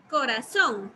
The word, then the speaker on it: corazón: Y corazón. ¿Cuál será la sílaba que estoy pronunciando más fuerte? Corazón. Son. Son. Ok. Ahí ya tengo entonces mi sílaba tónica. Si ustedes pueden observar, está en la última sílaba, o sea, al final de la palabra.